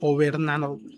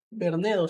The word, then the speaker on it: Bernedo: Bernedo o Bernardo. Bernedo, sí, Bernedo, es que no. Iba a decir Bernando.